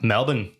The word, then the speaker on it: Melbourne: Dude, Melbourne. Going to Melbourne, bro. It's Melbourne. It's not. No. What'd you say? There's no R in it. Apparently, it's pronounced Melbourne, Anyways, not Melbourne.